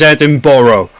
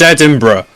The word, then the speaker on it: Edinburgh: now because i've heard a lot of americans pronounce it is edinboro it's edinburgh we have i know a story of a